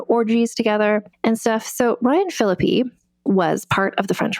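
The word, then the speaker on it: Ryan Phillippe: It looks like it's pronounced Ryan Philippe, but it's pronounced Ryan Philippi.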